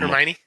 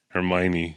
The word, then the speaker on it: Hermione: can see if you're harmonite or how do you say any harm Hermione Hermione yeah uh you Millennials you